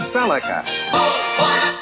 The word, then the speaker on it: Celica: The new Toyota Celica. Celica. This is my 2001 Toyota Celica, or Celica, however you want to say it.